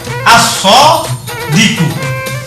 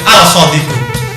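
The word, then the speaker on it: الصادق: Sehingga ketika di sini ditulis misalnya shod misalnya, maka bacanya langsung begini, as-shodiku. Nggak boleh al-shodiku.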